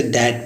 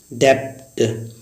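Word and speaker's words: debt: टी से पहले अक्सर बी साइलेंट होता है। जैसे एग्जांपल है DEPT, तो इसे डैट पढ़ते हैं। गॉस, डैट का अर्थ होता है कर्ज। ऐसे पहले हम लोग क्या पढ़ते थे डेप्ट, तो इसका अर्थ गलत होता है, इसे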